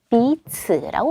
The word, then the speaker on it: 彼此: 그 다음 네 번째 제시어는 명사로 피차, 상호, 서로 비츠라고 발음을 하죠.